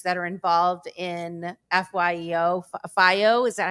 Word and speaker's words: FYEO: FYEO, is that how you say it? FYEO? Yeah, FYEO.